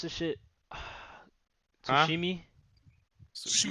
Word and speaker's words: Tsushima: Blitz, how you pronounce this shit? huh? Tsushimi? Tsushima. Tsushima.